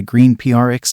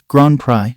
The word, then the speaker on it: Grand Prix: Prix these words should sound like divided by Green PRX divided by but since it's a French term it's pronounced as gr pry divided by it literally means the great prize